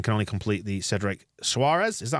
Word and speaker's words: Soares: 2, and can only complete the Cedric Suarez. Is that how we pronounce it? Soares?